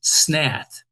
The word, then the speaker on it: snath: Well, in a scythe handle is called a snath, S-N-A-T-H. It rhymes with path and bath.